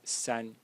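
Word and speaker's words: 三: And 3 in Chinese is pronounced san in the first tone again.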